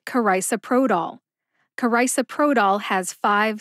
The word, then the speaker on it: carisoprodol: generic Soma is pronounced carisoprodol karisaprodol has five syllables now in my humble opinion all five of those syllables are slurred together especially the first two nevertheless I will break